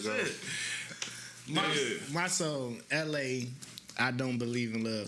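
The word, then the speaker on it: Elhae: His name L.A. though, but it ain't L.A. It's spelled out. It's probably L.A. Reid type shit, but in different. Nah, it's spelled out. E-L-H-A-E. L-A.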